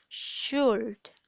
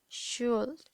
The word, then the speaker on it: should: bien pronunciada, es decir, como que se comen la U y la L, es como si nada más dijeras should, should, es como si nada más pronuncian una should.